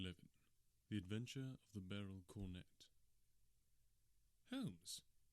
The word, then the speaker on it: beryl: cornet I had to look up how to pronounce Barrel apparently it's Barrel it's actually a type of